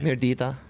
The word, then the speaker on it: Mirdita: Mirdita.